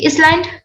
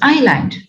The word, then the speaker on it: island: In silent letters, do we say island? No, it is island.